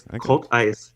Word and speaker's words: Cultice: how do you say your last name? Cultice? Oh. I wish it was Cultice. It's Cultice. Cultice. Like Cult Ice. A cult you worship and then a cult of ice.